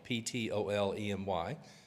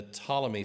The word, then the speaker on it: Ptolemy: Greeks in Egypt, and it's a silent P like pneumonia, but Ptolemy, Ptolemy, the Ptolemy family ruled Galilee and Jerusalem